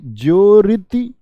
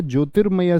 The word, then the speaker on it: ज्योतिर्मय: रेफ रूप का प्रयोग जिस व्यंजन पर है उससे पहले उसका उच्चारण होगा, यानी इसकी ध्वनि कहां गई? यहां। तो बोलिए ज्योरिति। ज्योरिति में होगा। ज्योरिति में शब्द है या ज्योतिर्मय शब्द है?